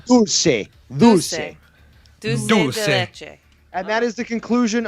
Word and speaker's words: dulce de leche: That is the proper pronunciation if you're gonna use dulce. In Dulce de Spanish, leche. it's dulce. Dulce. Dulce Dulce. de leche.